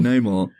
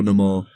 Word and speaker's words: Namor: rather be Namor or Namor, however his name is pronounced.